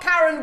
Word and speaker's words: Karen: Everyone calls me Karen, but it's pronounced Karen. Right, Karen.